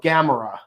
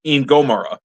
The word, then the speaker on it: Gomora: parents, and he had a spark doll of Gamera. Gamera? You mean Gomora?